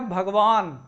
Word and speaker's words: भगवान: ये लिखा गया है भगवान, यहाँ जो है स्वर का आगम हो रहा है, लेकिन शुद्ध शब्द क्या है, भगवान। ना जो है वहाँ साइलेंट हो जाएगा, उसमें आ नहीं रहेगा।